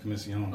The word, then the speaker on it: Comissiong: John actually interesting enough where I'm from in Trinidad is it is pronounced commission long okay but where my